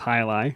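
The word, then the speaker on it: Jai Alai: down to Tampa Florida where I discovered the highi IPA yeah I really enjoyed that one it looks like J but it's pronounced hii yeah and that was from Cigar City Brewing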